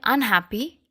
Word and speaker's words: unhappy: In the next word, unhappy, we are not stressing un, we are stressing ha, right? Unhappy.